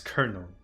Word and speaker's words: colonel: regiments calendar kernel whenever whenever I see this word I just think of their French pronunciation which is simply Colonel and it makes no sense to me in my mind that English becomes kernel instead of Simply color now I know it's